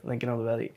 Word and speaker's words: Lincoln Olivetti: uh Lincoln olivetti yeah that yeah that's good Lincoln olivetti I I searched up their names and tried